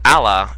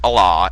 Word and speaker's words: Allah: You said Allah, it's pronounced Allah.